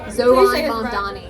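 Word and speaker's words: Zohran Mamdani: Zhoran Mamdani.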